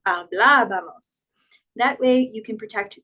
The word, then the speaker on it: hablábamos: When we put an accent in Spanish, it's usually to preserve the sound. So instead of saying hablábamos, it's trying to emphasize hablábamos.